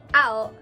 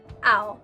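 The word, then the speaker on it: 青: You say ao, ao. And in the case of blue too, you add an e at the end, aoi, before you describe an object. So for example, aoi hon, although I guess this is a Kindle,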